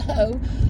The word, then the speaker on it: Heaux: Okay, it's pronounced Ho.